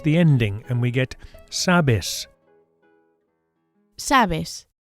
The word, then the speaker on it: sabes: To say you know, we change the ending and we get sabes. Sabes. Notice that the stress, the accent here is on the first syllable.